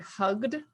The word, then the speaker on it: hugged: So if you think of the word hugged, the G is a voice sound, and that's why it's a D sound at the end. And the word jumped ends with a P, which is a non-voice, it's just air. And that's why it's a T. It's easier to say.